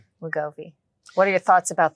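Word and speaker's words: Wegovy: WGO WGOI WGOI.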